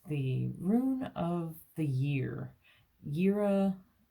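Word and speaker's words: Jera: Rune of the year yira even though it's spelled j-e-r-a is also year it's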